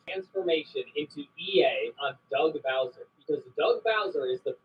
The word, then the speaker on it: Bowser: I know it's Bowser, but I growing up I always pronounced it Bowzer. Sounds weird saying Bowser.